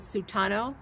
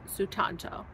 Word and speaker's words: Sutanto: murderers by Jesse sutanto I did say it wrong earlier I said sutano it's sutanto so I have that correct now I gave it